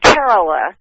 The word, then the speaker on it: Kerala: are the questions one do the karela do the Kerala using his pronunciation do the Kerala red